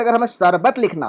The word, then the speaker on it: शरबत: ठीक है, शरबत, ब के बाद अ का उच्चारण होता है शरबत, शरबत।